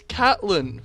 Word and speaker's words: Catelyn: get a girlfriend and life just gets harder Catelyn Stark and he thinks it's Caitlyn Stark are we talking about the LOL character okay because it's Caitlyn it's Catelyn from Game of Thrones oh